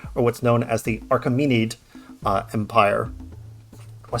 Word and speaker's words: Achaemenid: the Persian Empire, or what's known as the Achaemenid Empire. Am I saying that? Am I pronouncing that correctly? Yeah, Achaemenid Empire.